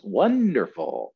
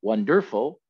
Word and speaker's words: wonderful: and easy one wonderful how many syllables in wonderful one er bowl right this is three syllable word one dur full and the first syllable gets the stress wonderful not wonderful and not wonderful right okay so i